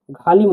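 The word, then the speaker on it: ғалым: এইচ ঘিবে উচ্চারণ হবে একটু গভীরভাবে টান দিয়ে বলতে হবে উদাহরণ দিচ্ছি আমরা দেখুন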